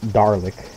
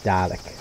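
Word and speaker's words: Dalek: A L E K so it's not daric it's doic anyway um he has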